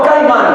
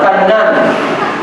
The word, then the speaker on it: Cainán: Es decir, Adán tuvo a Set, Set tuvo a Enos, Enos tuvo a Cainán, no Caimán, Cainán.